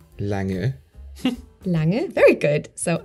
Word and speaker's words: Lange: And then the NG is, I think, a bit tricky. So, it's Lange. It's very soft. Lange. Lange. Lange. Very good. So, A, Lange.